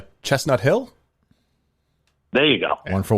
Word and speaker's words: Chestnut Hill: Chestnut Hills. What's the correct pronunciation? Chestnut Hill?